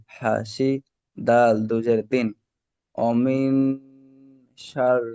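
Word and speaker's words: حسد: এখানে সিটি মারার মতন উচ্চারণ করবেন, ইজা হাসাদ। হুম। বুঝতে পারলেন? এই আচ্ছা। ওয়ামিন শাররি, শাররি হাসিদিন ইজা হাসাদ, হাসাদ সিন।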